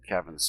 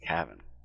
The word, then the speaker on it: Cavan: couple of things that Kevin's doing with this book by the way his name is spelled c-a-v-a-n it's not Kevin like k-e-v-i-n's cabin and um he chooses